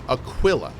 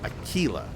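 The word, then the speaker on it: Aquila: of Darkness okay so so she is saying Aquilla which I feel is a different pronunciation of the word but she is definitely saying Aquilla like q i l l like the quill of a porcupine Aquilla okay so it's not a Kila huh yeah it's a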